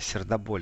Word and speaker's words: Сердоболь: пахнет Вот пришло сообщение Карелия город сердоболь или сердцем довольно верно все-таки ударение сердоболь слушает работаем на даче